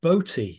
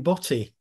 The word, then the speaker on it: Boty: know I'm going to talk about yeah Pauline bti she's pronounced I always thought it was Pauline body because I like I like this the slightly